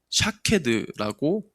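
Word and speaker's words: שָׁקֵד: 이 아몬드 나무는 히브리어로 샤케드라고 이렇게 발음을 한답니다.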